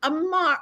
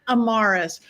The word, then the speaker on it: Amarus: one and only Amar. I was gonna say your last name wrong, so I said your name wrong. Amarus.